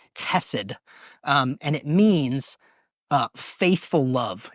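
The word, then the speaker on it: חסד: This word is pronounced chesed, and it means faithful love.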